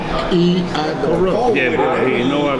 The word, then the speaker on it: Achiacharus: How you pronounce it? This is Achiacharus. There you go. Achiacharus. Achiacharus.